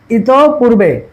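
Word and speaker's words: ইতঃপূর্বে: ঠিক আছে, ইত পূর্বে, এটা হবে কি, এই যে দেখো এই যে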